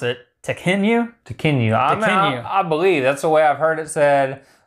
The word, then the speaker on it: Tekhenu: still don't know that I know how to pronounce it. Tekhenu.